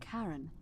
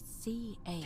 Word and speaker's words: Charon: The name you heard wasn't Karen. It was C-H-A-R-O-N, Charon. It is the Styx River. as in Oh, of course. How did we not figure that out before? Charon, Charon, who in exchange